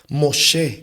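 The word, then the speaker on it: משה: Moshe, como se pronuncia en hebreo, no representa el sacado de las aguas.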